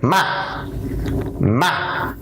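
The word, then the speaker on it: mạ: In order to pronounce this tone correctly, you only have to lower your voice quickly and briefly. For example, the word ma, it means rice seedling.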